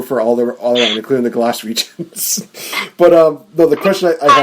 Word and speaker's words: Glaswegian: I know that, mentioning that you're from Glasgow, you're a fellow Glasgowian. I don't know how to say this. One of your favorite fellow people from Scotland. Glaswegian.